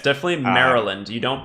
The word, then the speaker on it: Maryland: where I learned that it's pronounced Maryland not merry land yeah it's definitely Maryland you don't pronounce the